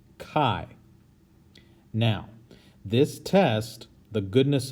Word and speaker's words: chi: of you might want to say chi or chai but it is pronounced chi now this test the goodness of fit test